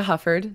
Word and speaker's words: Hufford: fine um it's hufford so nothing tricky i swear there aren't like silent letters or pronunciations pretty straightforward you're good okay but